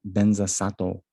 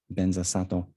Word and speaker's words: Vajrasattva: know especially this mantra the tibetans they pronounce vajrasattva benza sato benza sato and then um you know there's different kind of nuances and the pronunciation and you know strictly speaking the way tibetans do it it's uh not in keeping with the sanskrit pronunciation but um the most